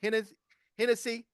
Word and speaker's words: Hennessy: Uh I think this was at Detroit uh uh taking swigs of a bottle of Hennessy.